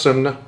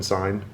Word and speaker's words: Synne: It was originally it's pronounced it's pronounced sun, but you pretty much no American is going to intuitively say it that way. So sin is actually closer than sign which is the other thing.